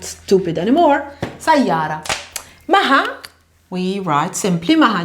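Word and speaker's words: سيارة: We don't pronounce the T. We don't say sayyarat. We say sayyara usually.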